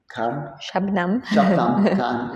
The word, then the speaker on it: Shubnum: Festival and together withn shabam shabam is the right pronunciation and we having conversation